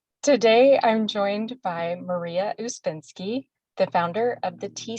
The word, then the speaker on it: Uspenski: name and that's fine it's it's normally usbensky yeah okay so let me try that again today I'm joined by Maria uspinski the founder of the